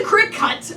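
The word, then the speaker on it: Cricut: It's spelled C-R-I-C-U-T, come on. Oh, what am I supposed to know what that It's is? the crick cut.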